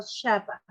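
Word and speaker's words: χαρά: espíritu, dice que proviene del verbo shapa. Se escribe XAPA.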